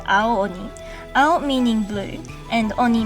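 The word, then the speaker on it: 青鬼: But to make it easier to say the word, we still join the vowels together and pronounce it as an elongated sound, Ao Oni.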